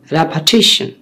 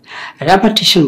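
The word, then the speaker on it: repetition: রেপিটিশন বলছি, রিপিটেশন না। যেহেতু জানেন যে আমাদের চ্যানেল ভোকাবুলারি উপর একটু কাজ করি, প্রোনাউন্সিয়েশন নিয়ে আমরা কাজ করি, সেহেতু একটু স্মরণ করিয়ে দিচ্ছি যে this is নট রিপিটেশন, this is রেপিটিশন।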